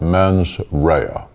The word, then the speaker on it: mens rea: the prosecutorial burden is establishing an element called men's rhea if you're taking notes that's spelled m-e-n-s next word r-e-a from the latin